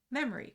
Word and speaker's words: memory: So in modern spoken English, we can see an example in the difference between the spelling and the pronunciation of the word memory, which in many dialects um doesn't have the O pronounced uh out loud, but the O is still typically spelled when it's written.